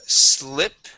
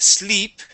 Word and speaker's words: slip: Okay, let's go to slip. Right here, instead of sleep, we're going to use a short I and say slip.